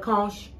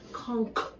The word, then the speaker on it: conch: salad y'all call it kosh it's not punks let me teach you guys how to say it the ch is silent conch not commerce salad so